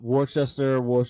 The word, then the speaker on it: Worcester: Worcester is spelled like Worcester. It's like Worcestershire sauce. Okay, I couldn't figure out how to say Worcester for the longest time, but it's in Worcester, Massachusetts.